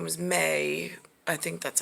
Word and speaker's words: Maye: again uh i didn't realize her name was may i think that's how they pronounce it musk elon musk's mom um she